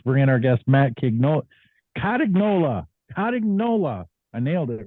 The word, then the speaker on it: Cotignola: It's not Cotignola. It's Cotignola. The Italian pronunciation would be Cotignola, but Well, that's not so good when he does it.